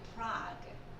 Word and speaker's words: Prague: 그럼 영어로는요 같이 해볼게요. Prague. 예, 프라하인데 영어 발음은 프라그예요.